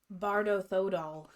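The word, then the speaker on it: Bardo Thödol: Number 3, Bardo Thodor, or how do you say it? Bardo Thodol.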